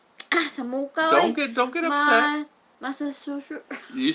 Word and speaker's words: Massachusetts: Massachusetts. Don't get upset. Massachusetts.